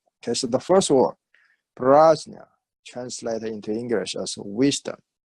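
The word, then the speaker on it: prajñā: Okay, the word prajna in Sanskrit, okay, romanized spell P-R-A. First syllable, pra. Second syllable, J-N with little skew things, right? Little squish on top of the N, then A, J-N-A. Okay, and on top of N, this like a nia, like a Spanish nia, Jnia. Okay, so it's pronounced prajna or praja, ja or jnia. Okay, so it's very difficult for a lot of people to say jnia.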